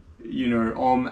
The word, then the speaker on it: Om: clear example, is that, Om, A-U-M has these 3 syllables.